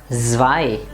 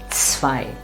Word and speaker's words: zwei: And of course the ts sound, so, or the number zwei. It is not zwei. It is ts, zwei. It's a nice sharp sound.